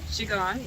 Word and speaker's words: Qigong: 11:30, and it all starts up actually because there's I think it's pronounced Qigong? Qigong, yeah.